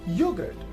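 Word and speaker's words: yoghurt: We have another word as yogurt. In yogurt, the letter H is also silent.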